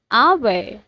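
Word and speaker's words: hour: एंड the third one इज आवर, again as silent.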